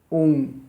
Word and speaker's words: ओम: ओम, आ उ मा, तीन शब्दों से मिलकर बनी ओम। ओम, ये ओम शब्द, ओम शब्द, ओम है, ओम नहीं है, ओम है। आ उ और मा, ये तीन का उच्चारण है, तीनों का मिश्रण है।